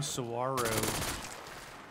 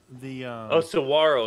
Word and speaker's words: saguaro: No saguaro. I told you about that, right? Saguaro, yeah, instead of cigar, saguaro. Yeah, the pronunciation of the cactus out here.